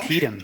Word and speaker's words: Antietam: you drop I off any thought further, I you're nailed in the Antietam.